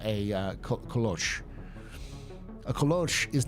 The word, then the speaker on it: kolache: But it's called kolosh. It's like the way it's spelled is kolosh, and kolosh is the Czech version of it, and it's actually the